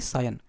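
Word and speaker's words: scion: क्या प्रोनाउंसिएशन होगी इसकी, सायन।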